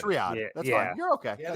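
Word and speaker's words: Riyadh: I know what the I know what the the the city that you're thinking of is Ria, but I think I'm butchering that pronunciation like I can butcher everything. Riad. It's Riad.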